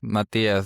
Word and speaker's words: Mathias: My name is Matias. By the way, the H is silent.